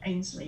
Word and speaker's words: Ainsley: But anyway, so Georgie's problem is that she's got, is it Ainsley? How do you pronounce it? Ainsley? Ainsley, yeah. Ainsley Manor.